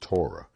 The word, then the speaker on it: Torah: t o r h the hebrew word pronounced torah meaning the law of